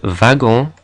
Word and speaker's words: wagon: But the word wagon comes from German, and so it's pronounced with a v sound.